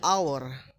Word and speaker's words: hour: H can be silent in certain words, often at beginning. So, the example is the silent after W, when, why, and whistle. At the beginning of the word, honest and hour.